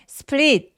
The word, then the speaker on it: split: 근데 split L 발음 또렷하게 해주셔서 윗니 뒤쪽을 꾹 눌러내주셔야 돼요. split. 그러면 굉장히 소리가 또렷하게 잘 들립니다.